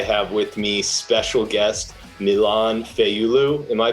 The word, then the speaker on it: Milain Fayulu: and today i have with me special guest milan feiyulu am i pronouncing that right yup that's pretty right awesome